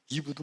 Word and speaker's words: 이브: 하와도 맞고 이브도 맞고 다 맞아요. 왜? 하와는 히브리어 발음을 따라갈 때 헤바라는 것이 한글로 하와로 이렇게 됐어요. 써졌어요. 이브는 영어식으로 헬라어를 영어로 번역할 때 이브라고 영어로 번역했어요.